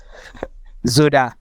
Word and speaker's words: ZODA: ZODA. Hey, yeah, it sounds like soda. Sounds like what? Soda. Like the SODA. Like just ZODA.